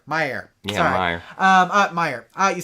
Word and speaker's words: Myer: anything like that oh it's pronounced my myair Myer sorry um Myer uh